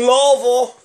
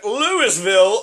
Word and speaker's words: Louisville: Louisville, you're stupid. Louisville, the way you're supposed to pronounce it is L-U-L, law, V-U-L, Vol. It's basically just a lazy way of talking, right?